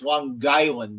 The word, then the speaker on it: Long Island: It's Long Island. You got to put that G in there.